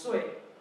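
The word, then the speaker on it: 岁: So it's sui, pronounced sui.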